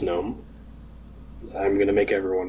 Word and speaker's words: GNOME: Yes, I did go out of my way to install GNOME on it, and yes, I pronounce it as GNOME.